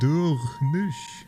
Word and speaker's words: Durnis: Durnis is pronounced Durnish since the finer sh cluster sounds like a sh sound.